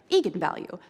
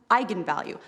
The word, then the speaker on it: eigenvalue: but I wasn't quite sure on how to pronounce it looked to me like vegan value so right I mean I think that's what